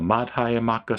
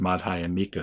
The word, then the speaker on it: Madhyamaka: This absolute is the middle way of the Madhyamaka school, which I think is also spelled a little differently and pronounced Madhyamika school, or at least that's